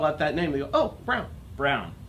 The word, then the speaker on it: Braun: I Drive it around my grandfather was very insistent you say it Brown ain't way different journals BRE you win yes just like the shaver braun phonetically yes braun my grandfather was very